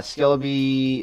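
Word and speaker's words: Skellbee: cooperate with you uh skelby I think is pronounced uh s yeah s-k-e-l-l -b-e-e like like the Bumblebee but with a Scala in front of it okay yeah for sure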